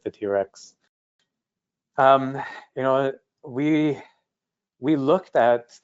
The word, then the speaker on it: T-RX: It's pronounced TRex, but it's T-RX avionics radio and test pulser.